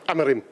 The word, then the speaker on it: Amorim: man united right now I love the way you say his name the proper Portuguese way amarim say it again am yeah very good